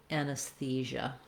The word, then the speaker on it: anesthesia: Again, try building from the stress syllable. Thesia, thesia, anesthesia.